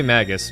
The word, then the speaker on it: Magus: say Sir froggy so how do you pronounce that name is it Magus Magus Magis Magis I say Magus but he's a tad